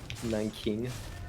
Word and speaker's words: Nanjing: Jiangsu province, so that's like my dad's from Nanjing, Nanjing. Nanking, Nanjing, however English pronounces it.